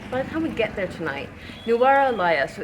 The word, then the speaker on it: Nuwara Eliya: Later in the day we found out the name of the town is pronounced Nuwara Eliya, not Nuwara Eliya.